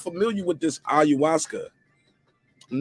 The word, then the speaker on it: ayahuasca: do you guys think about him taking the iu now i messed it up again how you say it say it again ayahuasca ayahuasca how do you guys feel about that